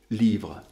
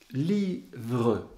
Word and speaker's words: livre: Livre, si je demande à l'élève, ou je lui fais d'abord remarquer que livre se termine par un E muet, un E qu'on n'entend pas d'habitude, ou qu'on n'entend presque pas, eh bien, je lui